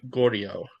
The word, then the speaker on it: Gaudio: um off an 8 nothing shutout performance uh Marboro pitcher Emily Gordio. Did I pronounce that?